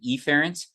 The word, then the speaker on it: efferent: do in lecture generally the pronunciation of these is Affair and efferent which sound almost identical I will exaggerate the sound of the first vowel so that it's afferent and efferent uh just to make